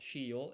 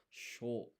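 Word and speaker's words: しょ: yun combination, and so this is not shi yo, it's sho, one blended syllable.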